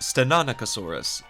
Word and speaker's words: Stenonychosaurus: This is a stenoaurus. And I have no idea if I'm saying that right. So, Spino dude, please help me if I am wrong. It's pronounced Stenanicosaurus, but the one you're